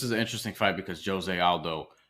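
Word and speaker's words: José Aldo: Yeah, so this is an interesting fight because Jose Aldo, who I almost always call Jose Aldo because I'm Puerto Rican, and in Portuguese you pronounce things differently.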